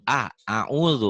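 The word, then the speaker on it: أعوذ: A-nya harus jelas, Bu. Jangan OU, jangan OU, a'udzu, a'udzu.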